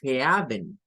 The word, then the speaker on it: heaven: e a Y eso no lo vamos a pronunciar como Heaven no es ea es Heaven Heaven de hecho quiero retomar